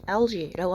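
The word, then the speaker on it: algae: 이거 발음 잘 하셔야 돼요, 여러분. LG라고 합니다. 우리가 알고 있는 그 대기업 있잖아요. 그 L 회사. 그거랑 발음이 비슷하다 보시면 될 것 같아요. LG 바이오퓨얼인데요.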